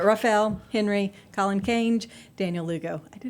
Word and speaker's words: Raphael: I always want to put like an extra syllable in there, but Raphael, Henry, Colin Cange, Daniel Lugo.